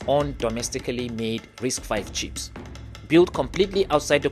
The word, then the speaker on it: RISC-V: Risk v pronounced risk 5 is a type of chip instruction set architecture or ISA.